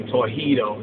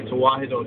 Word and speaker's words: Tewahedo: Well, some say Tawhido, that's a bad pronunciation. But anyway, Tewahedo Church, right?